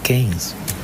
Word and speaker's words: Keynes: de Cambridge, un acomodado, de apellido Keynes se escribe, pero se dice Keynes.